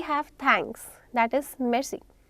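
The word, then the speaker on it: merci: That is मेर्सी. It's very quick. मेर्सी. Many times are का sound लोग prefer करते हैं कि हम ओमिट कर दें. आर is there. वो ओमिटेबल नहीं है बट you have to speak it very quick.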